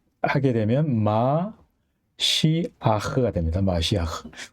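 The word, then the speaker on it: משיח: 기름 부음을 받은 자, 하게 되면 마시아흐가 됩니다. 마시아흐. 우리는 이거를 메시아라고 음역을 하는데 엄밀히 말하면 메시아는 틀린 발음입니다. 마시아 이게 올바른 발음입니다.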